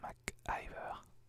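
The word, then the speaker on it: McIver: Mac qui veut alors il me semble que ça se prononce rose Mac Iver mais j'aime bien maquiller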